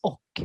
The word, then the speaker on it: och: So the question is basically how do Swedish people pronounce och sometimes? Bra. Helt rätt, Ann. Exactly. When we speak really fast, it sounds more like an O.